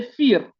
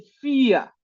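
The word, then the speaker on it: vier: O sea, que un suizo dice fir, un alemán dice fía, pronuncia como quieras, fir o fía.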